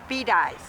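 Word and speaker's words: Bedias: No, Bedais. There's a town called Bedais.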